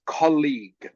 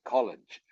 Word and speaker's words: colleague: yes okay and yes I know it looks like the word College okay it looks like college okay but it's pronounced differently okay so it's this